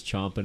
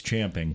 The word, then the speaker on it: champing: you said that because every time somebody says chomping at the bit I say it's champing yeah and you didn't even say it right what's champing at the bit like what that's how it's actually said but no apparently nobody